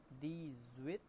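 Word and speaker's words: dix-huit: दी सेत, दी सेत, दी ज्वित, दी ज्वित। यहाँ पे एक्स और एच एक साथ मिल रहा है तो इसका साउंड दी ज्वित हो जा रहा है।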